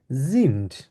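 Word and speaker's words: sind: যেহেতু এখানে এস আছে এস কে আমরা জার্মানি কি বলি জেড এর মত উচ্চারণ করি আর জেড কে আমরা এস এর মত উচ্চারণ করি তাহলে আমরা কি বলবো ভিয়া জিন্ড জ এর মত উচ্চারণ করবো ভিয়া জিন্ড ইয়া জাইট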